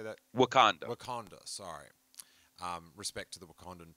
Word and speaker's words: Wakanda: the ship when they first fly into like Watonga. What is it on Marvel? Where the Black Panther is? How do you say that? Wakanda.